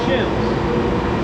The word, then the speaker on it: sheaves: It says directly below are motors, gears, and large pulleys called sheaves, or sheave is pronounced shivs.